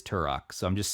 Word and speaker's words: Turok: you know man uh thor pronounced turok turo on the last episode and i ended up winning that debate because it is turok so i'm just saying